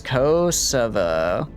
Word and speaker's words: Kosovo: So it's Kosovo. Kosovo. Ko as in co-worker, so as in so, and va as in replacing the T in T with a V. V.